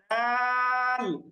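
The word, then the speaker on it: دال: প্রয়োজন হয় সেই হরফকে আমরা অতিরিক্ত টান দিয়ে উচ্চারণ করব এজন্য দাল এবং একটু টান দিয়ে উচ্চারণ করব পরেরটা হচ্ছে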